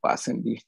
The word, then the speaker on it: Pasandi: Especially in Gujaratis, we call them Pakhandis instead of Pasandi.